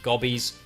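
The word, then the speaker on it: Gobbos: Raised by furry creatures called gobos. Some people pronounce them gobos, and if you're from Australia, maybe you pronounced it gobbies, but that's a whole different story.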